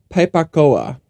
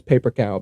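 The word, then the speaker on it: Pei Pa Koa: Nin Jom Pepacoa. Nice. And apparently that's referred to often as paper cow because that's how Americans say Pepacoa, paper cow.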